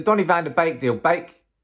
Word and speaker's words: Beek: With the Donny van de Beek deal, Beek, not Beek, drop a like on the video, come on.